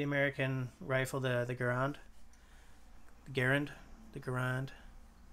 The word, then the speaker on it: Garand: rifle the the ground garand the garand the thing is the way the rifle is pronounced is different from the way the man's name was but enemies be the